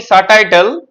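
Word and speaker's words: subtitle: যেমন তুই বললি সাবটাইটেল। ওটা কিন্তু সাবটাইটেলই হবে। কি কনফিউজিং।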